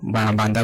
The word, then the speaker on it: बांदा: बंदा, बंदा नॉट, इट इज बांदा as a correct pronunciation.